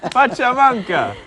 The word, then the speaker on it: pachamanca: about the pancha mancha but for the next pachamanga pachamanca so yeah we'll be right back to talk